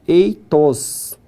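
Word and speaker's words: ἦθος: Então a pronúncia dessa palavra ficou eitos.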